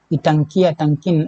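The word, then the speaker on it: Ntangki: इटंकिन ये आई से प्रोनाउंस होता है, तो ये नागालैंड में है।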